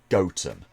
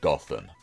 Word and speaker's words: Gotham: in England that the name derives from is pronounced goatum not Gotham UK place names can be a bit of